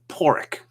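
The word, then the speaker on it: Padraig: a d r a i g and it's pronounced poric okay all right well Don Willis thank you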